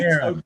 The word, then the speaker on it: Kieran: Well, yeah, I do a Welsh pronunciation, don't I? That's how it would be pronounced if it was in Welsh.